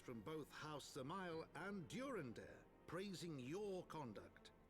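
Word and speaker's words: Dzemael: Alas, he is also a son of House Zamail. Oh, so the D is silent.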